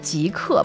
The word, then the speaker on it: 极客: And the Chinese word is 极客, but I think that one is a little bit more translated because of the English, because you think the pronunciation is similar.